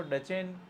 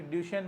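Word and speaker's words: Duchenne: डीएमडी जिसको अलग अलग प्रोनाउंसिएशन से पुकारा जाता है, कोई इसको डचेन मस्कुलर डिस्ट्रॉफी बोलता है, कोई ड्यूशेन मस्कुलर डिस्ट्रॉफी बोलता है, कोई इसको ड्यूकेन मस्कुलर डिस्ट्रॉफी बोलता है। इस तरह से इसको अलग अलग प्रोनाउंसिएशन इसके किए जाते हैं, बट जनरली जो सबसे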